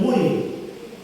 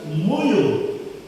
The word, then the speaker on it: Mui: Pastor Petr subur dan seharusnya orang sesukuran menyebutnya Sungai MUI tapi pelafalan orang Eropa tidak bisa bilang seperti itu dia harus bilang muyu maka jadilah sampai sekarang dibilang tanah muyu harusnya sungainya nama sungai